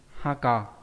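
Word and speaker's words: 墓: Đọc là gì? Haka.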